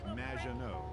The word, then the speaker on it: Maginot: It's Madge, which rhymes with badge. As in duh, and no as in more than you. Maginot.